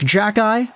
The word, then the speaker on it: Xhekaj: like that it's like jackai which is like jack as in jack and the beanstalk and i as in you have two eyeballs it's like jack eye